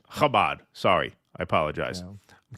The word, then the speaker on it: Chabad: How do you say it? Briefly. Chabad. Chabad.